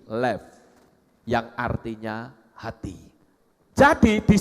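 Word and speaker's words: לב: Ini lamet dan bet digabung akan berbunyi lev, yang artinya hati.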